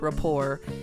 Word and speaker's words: rapport: If you have a good rapport with someone, and it looks like rapport, but it's pronounced rapport.